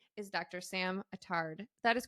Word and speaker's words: Sam Attard: excited Sam oh and her name is Dr samard that is correct right did I pronounce that correctly you did yeah okay great